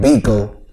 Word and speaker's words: Bekoe: a boy he can't eat my name is pronounced beagle was like Waco but with a big bingo